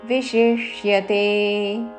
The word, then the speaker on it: విశిష్యతే: సా మీద ఆఘాత అసక్తస్, విసర్గ ఉచ్చారణ స, వెంటనే సా పలుకుతూ విశిష్యతే. విషి తల విషి ముందు, తర్వాత మూర్ధన్య షాకి యావత్తుతో విశిష్యతే. అసక్తః స విశిష్యతే. పూర్తి శ్లోకము. యస్త్వింద్రియాణి మనసా నియమ్యారభతేర్జున కర్మేంద్రియైః కర్మయోగం అసక్తః స విశిష్యతే.